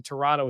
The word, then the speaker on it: Toronto: Like in Toronto, it's just Toronto. Like it's all, there's no T's or anything in it.